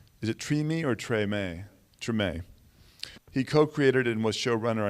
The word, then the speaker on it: Treme: And he was a writer and executive producer on the HBO series pronounced, is it Treme or Treme? Treme.